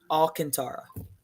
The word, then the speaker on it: Alcantara: Alcantara.